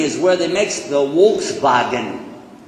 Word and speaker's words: Volkswagen: Yeah, well, in Germany is where they make the Volkswagen. That's what they call it, Volkswagen. We pronounce it Volkswagen. It's a reversal of the letters.